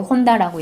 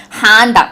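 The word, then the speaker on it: Honda: 그리고 예를 들면 제가 미국 와서 제일 깜짝 놀랐던 거는 일본 자동차 이름 혼다를 얘기할 때 우리나라 사람들은 혼다라고 얘기하잖아요. 여기서는 혼다라 그러면 아무도 못 알아듣고요, 한다 이렇게 이야기를 해야 돼요.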